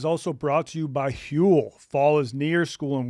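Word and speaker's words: Huel: Fortunately, Hule gets it, too. It's spelled hue eel.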